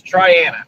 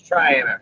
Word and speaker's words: Triana: are not from here, it is Triana, not none of those weird variations. It's Trianna. And there's a lady on TikTok trying to tell you how to say the name. I do see that one. Yeah, she's wrong. Been here my whole life. It's Triana.